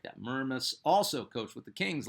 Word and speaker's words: Mermis: His name is a it's a very strange looking last name, but it is pronounced Mermis. I've cross referenced this like five times.